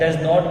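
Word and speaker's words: doesn't: इसमें T silent रहेगा, तो टी को आप प्रोनाउंस नहीं करेंगे, आपने बोलना है डजन मैटर।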